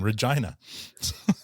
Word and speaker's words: Regina: We'll see what Coincidentally, while you're in Minikin, I'll be in the city that rhymes with fun, Regina.